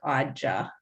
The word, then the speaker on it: AUDJA: So we made an acronym And if you pronounce the acronym, it sounds like AUDJA.